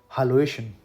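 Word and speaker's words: Hallöchen: हालोएशन, इसकी exact pronunciation है हालोएशन।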